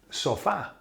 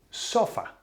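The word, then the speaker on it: sofá: word it should be sofa the same as way as we say it in in English the sulfa yeah but no they put an accent on the a to make it s okay why just to be different as suppose this is a foreign word we'll have to make it sound our way yeah so now I'm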